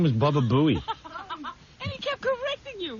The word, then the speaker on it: Baba Booey: Well, I thought this was a special pronunciation, because he kept saying Baba Booey.